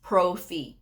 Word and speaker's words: pro fee: You'll sometimes see in the job ads pro fee. P R O dash fee. Pro fee. Now I spell it out because I've had several people what did she say?